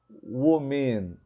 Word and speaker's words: women: you're mispronouncing this word so when you observe the letter e in this word try to think about the sound of this e it's it's in letter o it's called it's contained it in letter o so women and not women no we men we